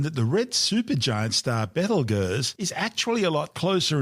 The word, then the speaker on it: Betelgeuse: Although we're calling it Betelgeuse, it's also commonly known as Beetlejuice. Both are mispronunciations of the original Arabic name Betelgeuse, meaning the hand of the big man being Orion the Hunter.